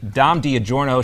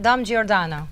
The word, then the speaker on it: Giordano: Dom Giordano. There, just say it like that.